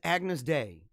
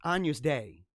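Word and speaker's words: Agnus Dei: referring to somebody in the comments section as agnes day it's not agnes it's anu's day i've always heard it because in my kids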